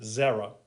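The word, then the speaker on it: זרע: it looks like this is how you would pronounce it zera means seed that's significant because in genesis 3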